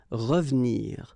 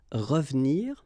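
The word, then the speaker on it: revenir: it will go well here it's exactly what we've been seeing because it's the second syllable so you've got r and then but then clearly you don't pronounce it so you get ravnir ravnir okay same thing here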